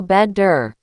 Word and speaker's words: better: When a T is between two vowels, it becomes a soft D. This is your first drill. I want you to say these words with me, but don't say the T. Say the D. Water right pointing arrow water. Better right pointing arrow bedder.